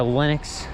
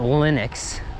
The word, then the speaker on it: Linux: So combining those two, you would think the proper way to pronounce it in English would be Linux, not Linux. Not like linen, Linux, but Linus.